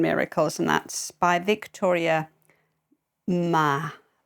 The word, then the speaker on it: Mas: and that's by Victoria Ma I don't know whether she pronounces the S Mass but it's m s so ma that's what I've been taught translated from the French